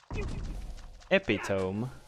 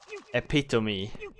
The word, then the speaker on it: epitome: Epitome. Or how is that pronounced then? Is it pronounced like really weird? Epitome. No. Oh, the save. Epitome, yeah. What the shit? I always thought that word was pronounced epitome.